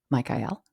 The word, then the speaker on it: Michael: time, the zeitgeist, is Michael. And it's pronounced that way in order to make it rhyme with the rest, and also to refer to the El, which is the indication